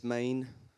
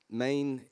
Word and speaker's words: Men: little bit about yeah so it's it's called main so spelled men but pronounced good camera I've got that camera it's pronounced main um M A NE e but spell me n and Maine is a contraction of the word menia which